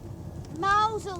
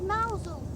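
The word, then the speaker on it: Mousehole: in mousehold mous what mousel that's how it's pronounced what are you talking about it's spelled mouse hole but they call it mousel do they bloody silly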